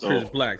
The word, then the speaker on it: CRSBLK: Like, because you spell it CRSBLK, but it's pronounced Chris Black.